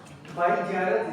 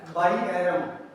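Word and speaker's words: Bjerrum: ठीक है, अब ये साइंटिस्ट का नाम, अब ये बाइजेरेंस सब बोलते हैं, एग्जामिनर बोलते हैं, लेकिन इसकी करेक्ट जो प्रोनाउंसिएशन है वो है बाइएरम, जे इसमें साइलेंट है, बाइएरम स्क्लेरोमा।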